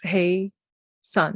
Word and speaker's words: Hassan: it's just uh finale it's hey son like saying Hey to son so uh lovely to